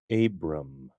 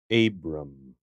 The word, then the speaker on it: Abram: let's look at a pronounce this name you don't meet many people named this the name is Abram Abram this is the name initially of an Old